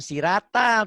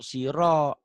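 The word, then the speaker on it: صراط: SH o Sod si ini r-nya benar bukan sirata tapi ganti o Siro Siro siratal bukan siratnyaah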